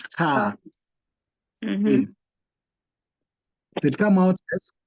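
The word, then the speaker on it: kaa: The way you pronounce car in English is the way you pronounce this one in Swahili. It's car.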